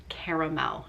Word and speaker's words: caramel: So leave me a comment on this video with the word caramel in it. I know people pronounce the word caramel differently. Some say caramel, some say caramel. I say caramel, it's C-A-R-A-M-E-L.